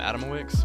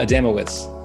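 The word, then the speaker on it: Adamowicz: for uh kotaku that you wrote about adam adam wicks am i pronouncing that right uh adamowitz okay adam adamowitz and you mentioned he has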